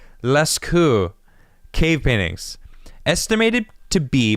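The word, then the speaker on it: Lascaux: la la cou lecho i feel like the x's is silent leskew cave paintings estimated to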